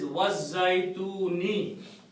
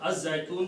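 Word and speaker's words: الزيتون: Then the next ayat is Wazzaytuni.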